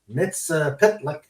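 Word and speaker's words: Mxyzptlk: Superman 30 while chasing a character called Mr MIT pitlick through the side I said it right yeah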